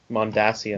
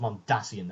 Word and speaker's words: Mondasian: that I guess it's officially pronounced mondasian well it's yeah it was always pronounced mondasian I mean you know the name of the plan is mondas not um what you say